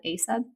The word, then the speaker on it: AESUB: There's actually a scanning spray out there called ASUB. It's spelled AESUB.